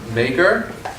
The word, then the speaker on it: Meagher: Talk 2 will be Benjamin Meagher. Is that correct? Meagher. Meagher? Yeah. Okay, so the Irish pronunciation.